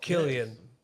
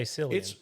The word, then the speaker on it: Cillian: Killian. I'll have to catch. I'm gonna that. say Cillian.